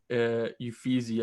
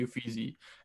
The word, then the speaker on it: Uffizi: It was actually the Uffizi, I think is how you pronounce it in Italy.